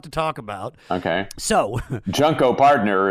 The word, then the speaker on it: Junko Partner: talk about okay so junko partner is pronounced that way because it's junk oh yeah it's about